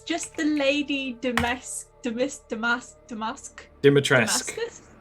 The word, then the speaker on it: Dimitrescu: Dimitrescu. It is. Dimitrescu. It's spelt not how it sounds.